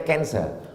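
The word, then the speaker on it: cancer: Tulisannya C A N C E R. Orang Barat membacanya kanser. Orang kita susah menyebut kanser. Kenapa nih kanker?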